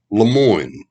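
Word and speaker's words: Lemoyne: one was his his given name was pierre lemoine l-e-m-o-y-n-e he's better known to us here in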